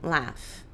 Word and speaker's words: laugh: Então, a gente tem laugh, laughed. Nossa, como é que pronuncia isso, Joana? Laugh? Laugh? Laugh. Esse GH tem som de F, tá? O GH pode ter 2 sons, de nada ou de F.